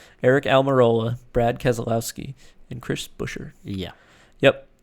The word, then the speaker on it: Buescher: The win went to Chris Buescher. And I pronounced his name correctly for the first time in my life.